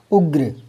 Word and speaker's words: उग्र: अब बच्चा इसको उर्ग बोल देता है। तो वृग नहीं है ये। जो पैर में होता है ना वो आगे पढ़ा जाता है। उग्र और ग आधा है।